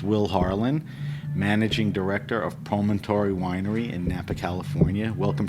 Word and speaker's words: Promontory: How do you pronounce it? Promontory. Promontory.